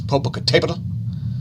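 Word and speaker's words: Popocatépetl: comment if it's pronounced i think it's popocatepada because that accent i believe means that syllable is the accented syllable so i believe it's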